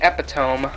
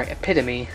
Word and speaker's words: epitome: was pretty much the epitome or epitome if you want to pronounce it that way of desktop replacement SL